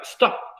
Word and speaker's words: stop: Por ejemplo, la palabra stop. Muchos dirían, la palabra stop tiene 2 sílabas, profe. No, es una sola. Stop. Stop. lo que diga stop. No, no hay una E ahí. No hay ninguna E.